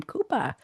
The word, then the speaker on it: Cuba: And there were some backup dancers and one of them was a young and he pronounces his name Koopa Cuba Gooding Jr.